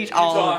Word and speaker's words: Eutaw: I did all the way to Utah, Alabama. Utah, Alabama, yeah. Not the state, Alabama. EUTAW. Weirdly spelled, but pronounced the same.